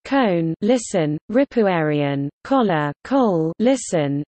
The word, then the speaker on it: Köln: Cologne, English, German, Köln, pronounced Cone, listen, Ripuarian, Kola, Kohl,